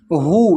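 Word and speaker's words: who: रिदमम में भी H silent है। फिर है हु।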